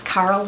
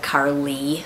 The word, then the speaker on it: Carle: Carle is spelled C-A-R-L-E, and it looks like Carly, sort of, but he's the guy that did the Very Hungry Caterpillar.